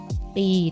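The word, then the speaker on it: ពីរ: ออก เสียง ว่า ฟรี ปี ตัว นี้ นะ คะ pro-e ปี มี low สะกด จะ ไม่ ออก เสียง ตัว ขอ ราคา ต่อ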